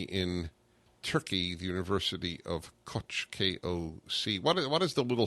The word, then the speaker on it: Koç: It's like a ch. Yeah, it makes a ch. Yeah. It's KOC, but it's pronounced Koç. Mm-hmm.